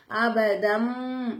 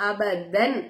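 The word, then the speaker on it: أبدا: அழுத்தி உச்சரிச்சோம் மண் அபதம் தன்வினுடைய குறியீடுக்கு அழைத்து தான் பா வந்திருக்கு பாக்கலாபுடைய எழுத்து சரிங்களா சரிங்களா உடைய எழுத்து அப்ப நம்ம என்ன செய்யணும் தன்வினுடைய குறியீடை மீமா மாத்தி நம்ம உச்சரிக்கணும் அபத்தன் அப்படின்னு சொல்லாம அபதம் அப்படின்னு சொல்லணும் சரிங்களாமா அபதம் ஐதி அடுத்ததா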